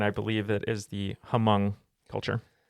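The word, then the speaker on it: Hmong: believe it is the hamong culture yes it is the m culture uh sometimes spelled with an H sometimes without depending on the specific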